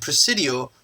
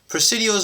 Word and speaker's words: Presidio: Spanish military settlement and Presidio rhymes with coccidia so that's what they